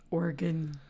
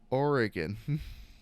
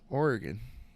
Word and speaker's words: Oregon: So I've had people from like neighboring states mispronounce Oregon. Organ. They're like Oregon. I'm like, no. Oregon.